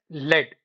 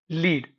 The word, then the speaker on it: lead: For example, lead. Now, if it is a metal, then we pronounce it as lead. And if it is a verb, we pronounce it as lead.